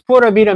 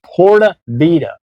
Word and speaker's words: Pura Vida: when I say it I always used to say Porta in my videos Porta Vida I have to think